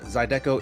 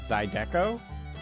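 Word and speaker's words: zydeco: names uh fungus finder with $2 Dono uh zido is Cajun music and Jesse you would love it oo write that down write that down hang on Mid explosion okay zido how do I spell that uh z y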